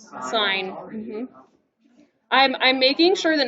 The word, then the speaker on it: sin: go but we don't we don't say sin remember how do we pronounce it sign i'm i'm making sure